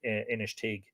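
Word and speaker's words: Inistioge: his cheek inish teague it's spelt i-n-i-s-t-i-o-g-e i think that's pronounced initig a small town on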